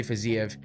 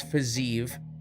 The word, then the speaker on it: Fiziev: Night 228 posie if I always say for ziev because that's how it looks like that's how it's spelled so that's what you want to say it's physive versus gamra oh yeah um